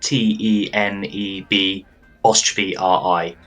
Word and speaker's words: Tenebri: So that's spelled Teneb '-RI, Tenebri.